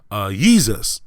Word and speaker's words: Yeezus: name from Kanye to yeezus which rhymes with what Jesus right and then that